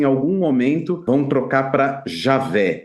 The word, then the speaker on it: Javé: Fala assim, olha, a esmagadora opinião acadêmica depende que o tetragrama, no tempo de Moisés, se pronunciava Javé. Ele fala que isso é uma coisa acadêmica. Na minha opinião de historiador e tudo mais, muito provavelmente é Javé, mas não é com J, né?